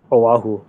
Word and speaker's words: Oahu: How do you pronounce the place where you are? Oahu.